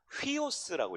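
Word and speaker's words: υἱός: 네 번째, 이 U자는요 위에 있는 이게 순표가 있으면 휘 발음이 납니다. 휘오스라고 읽으셔야 돼요.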